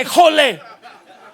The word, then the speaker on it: híjole: El aijo le lleva acento en la J. Híjole. Pero si alguno es maestro de castellano va a decir, "No, eh, pastor, en castellano no se acentúan las consonas." Esta sí se acentúa.